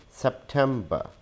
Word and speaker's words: September: We do not pronounce the last R sound. We add a schwa sound in the end. So it is September, September, September.